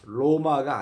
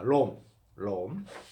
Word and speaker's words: Rome: 로마가 아니라 롬입니다. 롬.